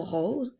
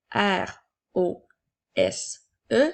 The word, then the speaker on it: rose: est aussi un adjectif le mot rose s'écrit r o s e attention à la lettre S tout comme dans le mot maison il y a une voyelle devant la lettre O et une voyelle après donc la lettre E donc